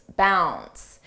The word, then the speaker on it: bounds: about Leaps and Bounds notice how bounds the D is not pronounced bounds bounce and here when we